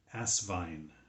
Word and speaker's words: Asvine: So I think what we can mainly determine from that is not veen, it's vine at the end.